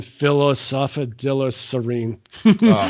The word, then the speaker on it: phosphatidylserine: It's phosphatidylserine. Phosphatidylserine. Yes, I think you said it right.